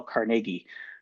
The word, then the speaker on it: Carnegie: to Win Friends and Influence People, by Dale Carnegie. That's the proper pronunciation, because I get messages and people correct me.